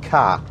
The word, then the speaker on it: Ka: of cat people say Ka or car but uh Ford apparently a bit confused themselves eventually said no it is cat as in cat without the T oh slightly odd choice